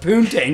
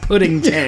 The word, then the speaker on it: poontang: I think it's pronounced poontang, not pudding tang.